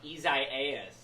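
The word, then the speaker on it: Isaías: the ice storm so it is uh isaiah's or isaiah's it's uh that it's that third uh syllable that you have the hard e for so it's now i'm not i'm thinking too much about it i can't even pronounce it there we go um it is the spanish and portuguese form of the word isaiah um and i know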